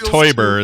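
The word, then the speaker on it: Teuber: of the games to it's toyer it's spelled t e u b r but it's sounds like toy yeah but I'm pretty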